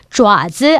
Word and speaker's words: 爪: 여러분 여기서는 얘를 자오로 읽어줍니다. 좌즈, 아까 지금 발톱이 달려있는 짐승의 발 가리킬 때는 좌즈라고 읽었어요. 그래서 여기 지금 여기 좌즈 이렇게 할 때는 좌로 읽었죠? 네, 그 하나하나 그 발가락 끝에 있는 발톱을 가리킬 때 그때는 좌오라고 발음해줍니다.